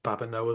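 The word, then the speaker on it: Babineaux: And that's Babino as in its French, isn't it?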